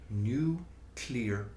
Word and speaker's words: nuclear: the sound of new clear sounds like new clear energy mhm new clear clean